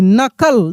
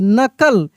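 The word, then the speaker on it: knuckle: के एन यू सी के, यानी के साइलेंट है, एन यू सी के एल ई को हम लोग नकल पढ़ रहे हैं। लिखा तो जा रहा है, के सभी जगह लिखा जाएगा, लेकिन वहाँ पे उसका ध्वनि नहीं निकलेगा, साइलेंट रहेगा।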